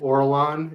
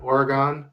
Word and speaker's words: Orlon: Yeah, there is a dragon in there called Orlon, and she keeps on calling it Oregon.